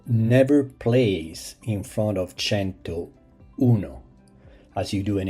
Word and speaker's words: cento: Repeat, cento. It is simply said cento, so never place in front of cento uno, as you do in English 100.